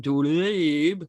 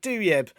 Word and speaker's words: Douieb: I'm from an area called Finsbury Park, so I've always pronounced it Douieb, Tiernan Douieb. But my cousin has been researching our family history, and we think my granddad's parents were from Algeria, so it should be Douieb, right?